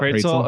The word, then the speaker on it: Praetzel: Because I know another Praetzel. Did I say it right? Praetzel. Yep. Praetzel.